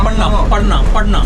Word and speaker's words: पढ़ना: read means the padna.